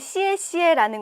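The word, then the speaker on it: 谢谢: 좋습니다 여기서 포인트는요 여러분들 시에 시에라는 건 다 아실 거 같고요 쉬시라고 입을 모아서 말하지 않고 양옆으로 쫙 찢어서 시에시에 이렇게 말씀해 주시는게 오늘의 포인트 인데요 여기에 사진 보시면 느낌이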